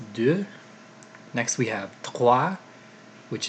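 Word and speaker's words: deux: have do and it's not doe it's due next we have claw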